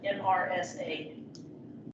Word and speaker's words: MRSA: Which are the acronym MRSA, M-R-S-A. You pronounce this MRSA.